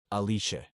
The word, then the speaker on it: Alice: his genius secretary Alice in Japanese with an Italian pronunciation aliche to prepare some screens